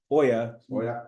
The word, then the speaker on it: hoya: that word Hoya o it's actually the H is silent I just remember Oya which to me means